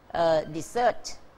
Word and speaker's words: dessert: ะ ฮ ะ อั น นี้ คื อ dessert นั ก เ รี ย น อ อ